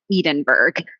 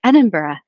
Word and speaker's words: Edinburgh: enough to knew that it wasn't edenburg but I couldn't remember how to say it and so I waited till I got home where um my flatmate um and one of my best friends is is British and so I was like Liz what how do you say this again and she's like Edinburgh and I was like